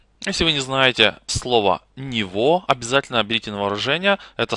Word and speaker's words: Niveau: употребляется в немецком языке пишется оно не совсем по-немецки Из какого точно языка я не могу сказать из фго Как видите Здесь много букв но тем не менее произносится очень кратко нево таким образом Мы соединили